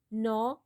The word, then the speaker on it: gnaw: Gnaw, G is silent, monstrous, derisively, plateau, devour.